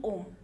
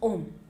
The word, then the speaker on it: ओम: हैं ओम का sound that is नॉट ओ एम ओम ए यू एम इट इज ओम okay तो universe से